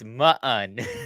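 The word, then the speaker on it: Muun: There's two U's. Mun. It's Ma'un. Ma'un.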